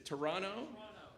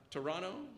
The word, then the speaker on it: Toronto: am I right that you don't pronounce the last T it's Toronto Toronto okay sixth place if